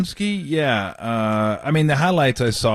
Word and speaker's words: Podziemski: Podziemski, yeah.